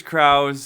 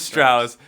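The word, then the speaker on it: Strause: So the brothers Krause, is that Strauss? The brothers Strauss. As I mispronounced their name, I gave it away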